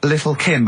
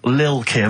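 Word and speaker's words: Lil' Kim: Now, Steve, I see there it's a track by Little Kim. How are you pronouncing it? I'm pronouncing that correctly. Lil Kim.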